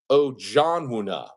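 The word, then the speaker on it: Ojianwuna: I have the phonetic pronunciation here. It's Ojonwuna, Josh Ojonwuna, 6'10", center forward.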